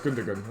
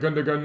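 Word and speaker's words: Gündoğan: I used to say Gundogan, and everyone said, no, it's Gundogan. I'm like, oh, which one is it?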